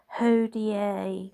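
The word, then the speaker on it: hodie: It's also recommended to use the Latin word hoda which is spelled h o d i e which is actually usually on his iconography and it means today.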